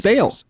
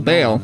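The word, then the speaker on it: Bel: Hey, the pronunciation thing infers that it's that one of the pronunciations is Bale. B E L Bale.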